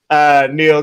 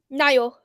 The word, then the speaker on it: Niall: I always say Neil, but I feel like it's Neil. Niall. Niall. Okay, Niall. Okay, great.